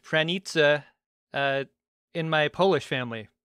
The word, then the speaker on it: Pranica: strong Polish name that I learned as actually pronounced pranita uh in my polish family the ones who